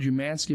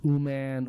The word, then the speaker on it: Umansky: so when you when when the word umansky becomes um man um man whatever and I remember like